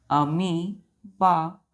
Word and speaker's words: amoeba: अब आप सोचिएगा इसका प्रोनाउंसिएशन अमीबा क्यों है। देखिए यहाँ पर ये ओ जो है बच्चों, ये साइलेंट हो जाता है। क्या हो जाता है? ओ साइलेंट हो जाता है, नहीं पढ़ते इसे। तो इसमें हम सिर्फ स्पेलिंग में लिखते हैं, लेकिन पढ़ते क्या है? अमीबा। मतलब एम के बाद हम ई को प्रोनाउंस करते हैं, ओ साइलेंट होता है, तो हम बोलते हैं अमीबा।